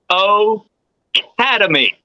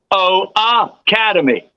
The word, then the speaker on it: O Academy: they make the error they say o aademy and it's not o aademy they spell it that way I saw it three times to today it's O Academy the O replacing the